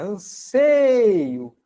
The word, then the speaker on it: anseio: Anseio, olha, anseio. A gente pronuncia anseio. O timbre é fechado, não é anseio.